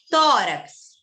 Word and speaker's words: tórax: Tórax. Então, você percebe que não era o rax, a sílaba forte, é no tó. Se é no tó, é na penúltima.